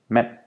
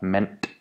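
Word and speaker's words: mand: pronounced without the D Man in Danish is men not meant word in Danish is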